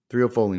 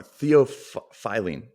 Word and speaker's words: theophylline: Oh, I just pronounced an R. There. I know. I just want to say, they just realized there's no R. Theophylline.